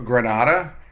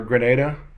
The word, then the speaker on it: Grenada: We worked our way all the way up to Grenada, or Grenada. I think it depends on where you're from as to how you pronounce it.